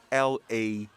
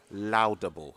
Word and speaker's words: laudable: mispronounced and it's spelled l-a-u-d-a-b-l-e now in our part of the world you sometimes would hear some people pronounce it as laudable as though they were pronouncing the word loud in there but of course the